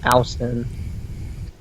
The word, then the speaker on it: Alston: You know, his name sounds like Austin instead of his actual name, Alston. Yeah, it's not pronounced Al, it's pronounced All, but it's just A-L, it's not A-U-S-T, no.